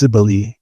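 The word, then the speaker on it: Cybele: and her name was Sibily and uh for a long time I wondered how um her name was pronounced and I and uh it's Cibili and uh she has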